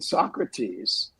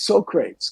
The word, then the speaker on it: Socrates: this is just a very beginning he was pronouncing Socrates as Socrates because he had never seen the word before